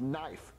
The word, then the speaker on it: knife: is silent it's pronounced knife no it's not there's a K so you pronounce it cut not Jeffy the K is silent you I know what's